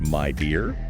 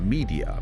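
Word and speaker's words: Midea: world's number one appliance company wow but it's pronounced my dear my dear not media okay and they nailed This Global campaign about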